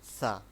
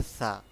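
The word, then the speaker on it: ث: সা হচ্ছে একটি নরম হরফ। যেটাকে আমরা বলি নরমভাবে উচ্চারণ হবে একদম জিহ্বার আগা থেকে সা জিম জিম হচ্ছে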